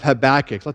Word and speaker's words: Habakkuk: bigger picture of of habach let's start there this morning the book is structured really around a conversation between a perplexed Prophet a dude named havakuk in the Hebrew habach as I pronounce it who lived during